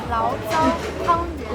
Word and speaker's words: 醪糟汤圆: 醪糟汤圆，醪糟汤圆.